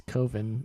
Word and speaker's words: Coven: Shir um I'm wearing this coven or koven it's koven it's not pronounced coven that sounds too much like oven I'm wearing this koven